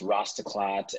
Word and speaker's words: Rastaclat: little bit of heritage in it and it's pronounced rastaclat and the last four letters of the name